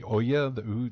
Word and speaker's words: Ouya: oh God, I can't remember how to pronounce that. The Ouya, the O-U-Y-A thing.